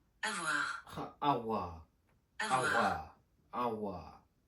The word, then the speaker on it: avoir: Say it, avoir. Avoir. Avoir. Avoir.